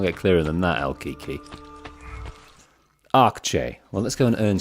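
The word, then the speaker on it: Akçe: Al-Kiki Akche is pronounced Akche. Ak. The A sounds like the A in father. Father. Akche. Akche. Similar to Che in Czech, but with a softer, shorter A sound.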